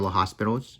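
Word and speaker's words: L'Hôpital: then we would write by l'hopital's rule or l'hospital's if you want to pronounce it funny you write your original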